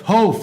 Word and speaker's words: Hof: Hof. See, that's why I have you here, because I say it wrong every Hof time.